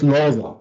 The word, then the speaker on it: Loza: So it's Loza. It's not. It's not like Shosha Loza.